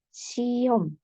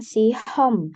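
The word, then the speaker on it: 시험: Eh ada vokal O jadi huruf Hi ini diapit oleh dua vokal ada vokal I dan ada vokal o ketika dia diapit dua vokal Seperti ini dia seolah-olah tidak ada ya huruf hinya ah-olah tidak dibaca jadi lebih natural jika yarabun membacanya sebagai siom bukan sihom h-nya jangan terlalu jelas siom siom siom artinya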